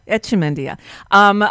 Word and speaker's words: Echemendia: Echemendia.